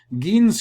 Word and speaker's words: Gein: Edward Theodore Gean, which I believe it would be pronounced Gean like G-Y-N, but it's G-E-I-N, Gean, also known as the